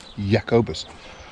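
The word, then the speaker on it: Jacobus: a J so um it's spelled with a J but pronounced it yakobus um so it may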